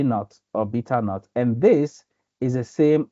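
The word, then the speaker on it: β₀: And this is pronounced as B naught or beta naught or beta zero. So to make it short, informally, people call it B naught, but the right term is beta naught or beta zero.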